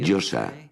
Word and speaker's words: Yosa: La Yo, la A, que se pronuncia así, Yosa.